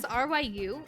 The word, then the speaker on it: Ryu: Ryu, but those letters, RYU, is also a Korean syllable, and it's just Ryu. It's like it's just one syllable, not two.